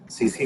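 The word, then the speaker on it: tsetse: तो इसमें जो वेक्टर है इसको हम कहेंगे सीसी फ्लाई। ये डबल टी साइलेंट है इसमें, इसको ग्लोसिना सीसी फ्लाई कहा जाता है, और होस्ट रिजर्वोयर जो है इसमें वो ह्यूमन बींग्स है।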